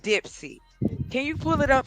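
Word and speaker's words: Dipsea: The website is called Dipsy. Can you pull it up for me? What is it called? It's dip c.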